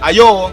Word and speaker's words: ayo: Ayo, En japonés, sayonara.